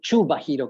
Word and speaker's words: Kubahiro: o Chubahiro, creo que es la pronunciación. Siempre tengo problemas con la pronunciación de su apellido, pero creo que se escribe Kubahiro, pero se pronuncia Chubahiro.